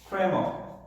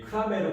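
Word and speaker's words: Cramer: 조금 더 쉽게 해보자라고 해서 크레머 우리 크라메르 공식이라고 책은 돼 있지만 저는 그냥 크레머라고 읽겠습니다.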